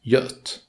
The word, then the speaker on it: Göt: The G in Göt is pronounced like a J or even the Y in U. The Ö is the same once again, and then you basically just add a T to get Göt.